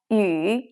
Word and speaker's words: 语: Be careful that Yu is actually this sound, the simple Chinese Yu in its third tone.